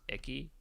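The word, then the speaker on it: Ichi: pretty sure it's pronounced icky. Yeah. Well, Icky. Okay. But still, but yeah, reading it, it's literally icky.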